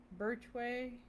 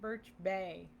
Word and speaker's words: Birch Bay: Birchway? Is that how you say it? Birch Bay. I don't know why I said way.